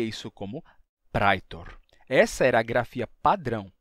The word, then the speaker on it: praetor: do interior, em que não se dizia caecilius nem praetor, e sim caecilius e pretor, certo? Era um sotaque em que a gente já tinha essa pronúncia monotongada, não mais o ditongo I, mas sim um simples E.